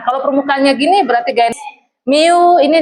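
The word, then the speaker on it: μ: Kalau permukaannya gini berarti gaya miu ini dibacanya miu kayak gini tulisannya.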